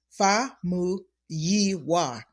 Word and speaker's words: Famuyiwa: I tell patients it's break it up into phonetics right two letters at a time Fu yiwa fuwa fuwa correct I